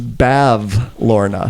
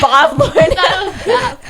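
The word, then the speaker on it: Bavlorna: It's Bav Lorna. I thought it was Bob Lorna.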